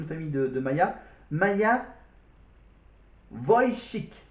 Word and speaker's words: Wojcik: Alors son nom de famille, je vais essayer de la prononcer, le nom de famille de Maya. Maya Wojcik. Wojcik.